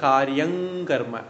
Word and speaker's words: कार्यं कर्म: காரியம் கர்ம அல்ல காரியம் கர்ம சேர்த்து சொல்லும்போது காரியங்கர்ம ஙா வந்துடும்.